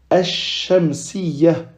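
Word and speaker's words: الشمسية: Ici, on dit al-shamsiyah. On ne prononce pas le lam, mais plutôt on dédouble la lettre qui suit.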